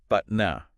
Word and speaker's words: BATNA: You want to get a handle on BTNA, pronounced Batna. Batna.